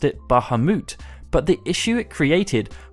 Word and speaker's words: Bahamut: in muslim storytelling and this particular Muhammad was pronounced Baha moot and was transcribed as such by an English scholar